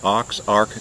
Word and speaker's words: Aux Arc: oh yeah oh yeah we came from oxark campground that's spelled a-u-x-a-r-c two words a-u-x-a-r-c ox arc campground and it's very close